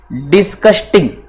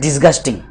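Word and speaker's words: disgusting: बोला यहां तक clear, डिस्कस्टिंग Maurya, it इज नॉट डिस्कस्टिंग, इट इज डिस्गस्टिंग, इसमें सी नहीं आता, जी आता है उस स्पेलिंग में, डिस्कस्टिंग।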